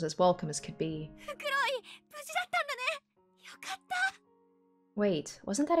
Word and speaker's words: Fukuroi: Fukuroi! Yokatta. Sagashita zo Mitsuki. It was Masato Fukori. Fukori? Oh boy, I'm saying his name wrong. Despite the fact they just said it.